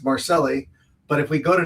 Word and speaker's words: Marcelli: By the way, William, I just want to say to you that you pronounced her name correctly. It's Marcelli.